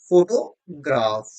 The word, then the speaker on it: photograph: The stress pattern in photograph falls on first syllable, second syllable, third syllable or last syllable. So it is on first level photograph.